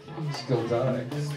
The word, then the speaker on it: Skladnik: how do you say your last name, dude? Skladnik. Try spelling that shit, y'all. It's spelled just like it sounds.